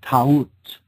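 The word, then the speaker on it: Taurt: Or Ta'ut, she was called in older Egyptian tradition. Ta'ut, T-A-U-R-T, Ta'ut. Now, in other traditions in the Middle East, her name phonetically morphed and became, instead of Ta'ut with a U-R-T, we have a reversal,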